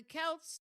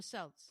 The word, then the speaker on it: Celts: It's ridiculous because the Kelts, Am I saying it right? Kelts or Celts? I think so. No, I think it's Kelts. Okay. Yeah, because it's Celtic.